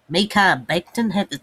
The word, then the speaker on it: Mekhi Becton: Number 10, I have the Browns taking Mekhi Becton.